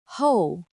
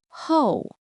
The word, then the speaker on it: 后: Ho. Ho.